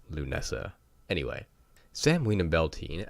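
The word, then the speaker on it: Lughnasadh: is on August 1st it is spelled let me just clarify this l ugh na s ADH yes that does spell loo Nessa in retrospect absolutely it does my modern English brain does not read it as Lou Nessa anyway Sam weena Bell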